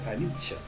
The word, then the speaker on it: anicca: La primera de ellas es la referida a la impermanencia, que se denomina anicca, que en lengua pali es anicca, se pronuncia anicca.